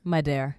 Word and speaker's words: Madhere: Am I saying it right? Madhere? Madhere. Madhere. But it looks like Mad here.